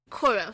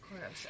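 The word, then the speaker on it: Coros: Choros. So it's spelled C O R O S. Choros.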